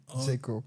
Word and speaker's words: Djeko: J'espère que je prononce bien Djeko. Normalement, c'est Djeko. Ah, comme le Djé. Comme le Djé. D'accord. Comme le Djé et Ko.